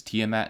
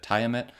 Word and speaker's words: Tiamat: for pointing out that the pronunciation of this is tiamat instead of tiamet which is how i